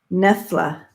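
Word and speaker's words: Knoephla: Soup, and it's pronounced Nefla.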